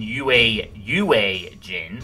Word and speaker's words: Yue Jin: Also, I've been told I need to pronounce the E in Yue Jin, because there's another character called Yu Jin.